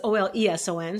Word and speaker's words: Oleson: Olsen is Oleson. So there's this quiet little E in there that's silent, but it's spelled Oleson, Oleson, Olsen.